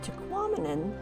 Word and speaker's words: Tahquamenon: never realized before that Tahquamenon rhymes with phenomenon so there you go there's your one little fun fact um tahquamen and state Falls or Tahquamenon Falls State Park is